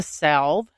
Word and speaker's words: salve: The salve, or salve, however you like to say it. Salve. That's what I say.